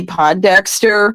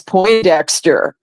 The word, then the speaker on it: Pondexter: Remember when Cappy Pondexter was on the New York Liberty and Bill Lambier was the coach? Yeah. Well, I had mispronounced the name as Poindexter, and Bill Lambier looked